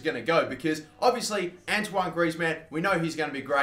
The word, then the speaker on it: Antoine: We ended up getting Antoine Griezmann. Yes, I'm sorry I was saying it wrong the whole time, calling him Anthony.